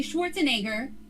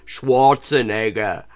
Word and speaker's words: Schwarzenegger: Like I've never heard him insisting on pronouncing the W like a V as it would be in German.